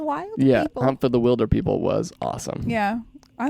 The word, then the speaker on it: Wilderpeople: it and so then when he said we're Wilder people so then I knew it's pronounced Wilder people interesting see and I just